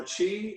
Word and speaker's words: qi: was talking about is chi is spelled q i uh chi meaning our life force